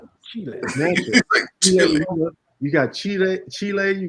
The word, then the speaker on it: Chile: he lived there only person I've ever heard pronounce Chile the correct way yeah Chile and now I know how to say it